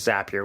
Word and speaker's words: Zapier: And yes, it is Zapier. We get into that in this episode, as how you pronounce that service, as well as a whole bunch of other automated related information and discussion points.